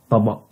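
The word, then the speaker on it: طبق: The last sound here is glottal stop, so it is taba, taba, taba.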